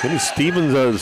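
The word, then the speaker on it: Stephen: And they start right out with a nice three-point attempt out from the corner from Steven Lester. He's Stevens spells his first name just like I do.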